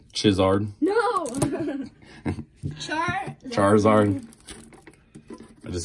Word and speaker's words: Charizard: right there don't say it wrong chard no Charizard Charizard I just say toward you son Charizard